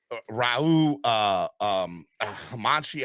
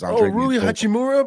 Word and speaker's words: Rui Hachimura: the like they got this guy Raul Hamanchi. I can't say his name for the life of me because Rui Hachimura, bro.